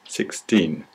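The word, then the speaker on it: sixteen: second syllable is stressed 16 but if it's a t word you don't hear the T at all really what you hear is a six so we say not 6 T we don't say that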